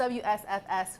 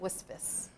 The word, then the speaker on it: WSFS: it's WSFS. Yes. Who said we're going to pronounce it Wisfis?